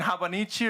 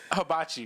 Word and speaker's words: hibachi: I show up with fucking Japanese cuisine, habanichi or habana. How do you pronounce that? Hibachi.